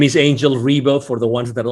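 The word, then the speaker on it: Ribo: My name is Angel Rebo for the ones that are only listening and not watching this video and they don't see the visuals here on the screen.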